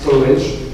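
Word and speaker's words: Storj: La première entreprise qui a mis à contribution la blockchain, ça s'écrit Storgy, mais ça se prononce Storage.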